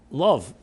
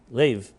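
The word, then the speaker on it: לב: In the chapter called Love, in Tanya, Lev, which is heart in Hebrew, chapter 32, also can be pronounced as love, chapter Love, right?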